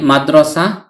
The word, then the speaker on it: مدرسة: হারাকাতুন উচ্চারিত না হলে এই গুলতাটি বাংলার হ বর্ণের উচ্চারণ দেয়। তাই মাদ্রাসা উচ্চারণ করেছি।